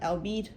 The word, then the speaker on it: albeit: The archaic word albeit does not rhyme with eight, you see it.